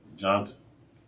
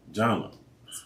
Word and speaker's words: Jona: All right, you heard from Miss Jones, Jona. Did I say it right? You did not. Okay. Jona. Jona.